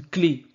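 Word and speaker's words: clef: découvert que le fameux clé la clé là en tout cas le F à la fin n'est pas prononcé car en fait le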